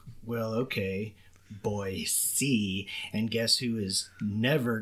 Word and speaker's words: Boise: to set the stage for this election uh Boise city was did I say that right boy